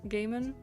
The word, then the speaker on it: Gaiman: It's pronounced... Oh, it is actually Gaiman. See, I wasn't sure if it was Gaiman or Gaiman.